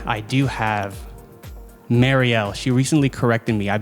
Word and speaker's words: Mariell: but with that being said I do have Marielle she recently corrected me I've been saying Mario for the past I think eight or nine